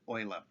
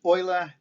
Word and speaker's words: Euler: known as euler's number named after mathematician leonard euler note is pronounced euler and not euler which is one of the